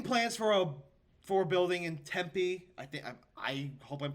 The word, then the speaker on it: Tempe: How do you pronounce it? Tempe. Yep. Okay, Tempe.